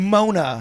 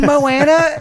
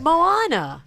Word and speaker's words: Moana: Mona and Moana. Moana.